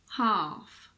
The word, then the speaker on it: half: With L, you just need to learn the exceptions. Some of the most common ones are calf, half, chalk, talk, walk, balm, calm, palm.